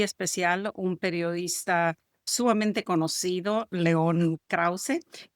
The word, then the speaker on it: León Krauze: Hoy tengo un invitado muy especial, un periodista sumamente conocido, León Krause. Creo que no estoy pronunciando bien tu nombre, tu perfectamente bien.